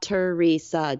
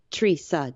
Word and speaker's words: Treesa: But it also felt like it was total of the 3 syllables, not Teresa, it was Treesa. And so I just took the Teresa and flipped the R and the E to Treesa, Treesa, Treesa.